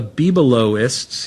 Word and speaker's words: Bibelotists: The Bibelotists, you pronounce the T, pardon my French.